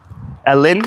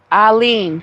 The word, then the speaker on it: Alen: Ellen, I think it's Ellen. No, it's Alen. She They wrote how to pronounce it.